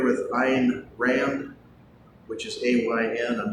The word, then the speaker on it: Ayn: How many of you are familiar with Ayn Rand, which is A-Y-N? I'm not sure why she pronounces it Ayn, or did pronounce it.